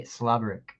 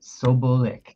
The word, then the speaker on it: Sobolik: next person will be Jeremy Sloberick, or Sloberick, I believe is how you pronounce it. I'm so bad with names. Oh, sorry, Sobolik. There's no R.